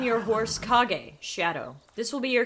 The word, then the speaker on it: Kage: I want to do shadow, but I don't know how to pronounce it. Kage. Kage.